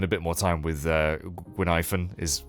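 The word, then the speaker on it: Guinaifen: Also, yeah, because we did the Hua Hua quest, we got to spend a bit more time with Gwynaifen, is how you say her name.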